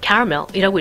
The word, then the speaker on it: caramel: 자, 지금 화면에 보면은 캐러멜이라는 단어가 써져 있는데 우리는 캐러멜이라고 읽지만은 영어에서는 얘를 caramel이라고 읽거든요.